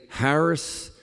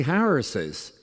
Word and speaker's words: Harris's: the human voice so do we say Harris uh economic um plans policies do we we say walls military service I don't think so we say Harris's and we say walls'